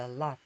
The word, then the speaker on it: Lot: 롯 이렇게 하는데 요거는 자모자 되면 오는 아 소리가 납니다. 발음상으로. 그래서 lot.